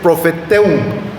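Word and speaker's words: προφητεύω: Bueno, a ver, aquí en el griego profetizar o profetiza es profeteum, así es como se pronuncia en el griego, y quiere decir hablar la inspiración de Dios, hablar la palabra de Dios.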